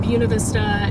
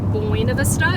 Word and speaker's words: Buena Vista: And I believe Buena Vista kind of sits in the valley with the mountains all around, and Buena Vista is, that's how you pronounce it. It's not Buena Vista, it's Buena here.